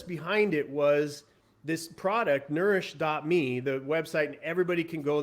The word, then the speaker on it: Nurish: the site uh and it's spelled incorrectly by the way n-u-r-i-s-h dot me it's nourish n-u-r-i-s-h dot me so